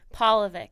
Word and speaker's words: Polivick: But it's paw, like a dog's paw. Polivick. Polivick. Or like Paul from the Bible.